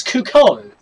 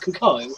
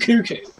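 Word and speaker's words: Cucco: Actually, no, it's Cuckoo. Yeah. Because Breath of the Wild, like, Champions Bad DLC actually confirmed that it's pronounced Cuckoo, not Cuckoo.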